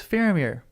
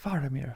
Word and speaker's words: Faramir: Famir, everyone goes farir. And everyone, the real way to say is Faramir. Farir. How? What is the proper way to say that name? I say it wrong. I think that's actually incredible. Scottish. Famir. Go. Famir. Famir. Faramir. Faramir is the correct way to say it.